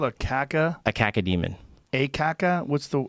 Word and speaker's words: cacodemon: A cacodemon. Caca? What's the spell it?